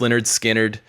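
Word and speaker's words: Lynyrd Skynyrd: no excited to get into that listen to pronounced Leonard skinnard for this week listen along with us join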